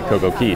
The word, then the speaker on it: CocoCay: have an FAQ about CoCo Key and it says there that it is pronounced key like a key to open a door yeah so I guess